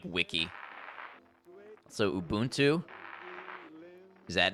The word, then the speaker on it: Ubuntu: every time you hear Ubuntu mentioned on the news which isn't often the second syllable is said like the English word bunt buntu you bunt too yeah I've never I